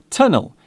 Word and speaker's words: tunnel: The word tunnel is still pronounced with the hard T sound.